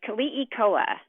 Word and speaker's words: Keliikoa: Yeah, it's Keliikoa. So in Hawaiian, all the vowels are always pronounced, but sometimes very quickly.